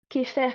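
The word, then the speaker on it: Kheper: Le mot égyptien, Kéfer, qui s'écrit Xéper en français avec notre alphabet, il signifie je suis venu à l'existence.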